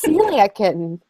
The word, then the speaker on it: Celiac Kitten: I think I've been saying that as Cecilia this whole time. It's Celiac Kitten.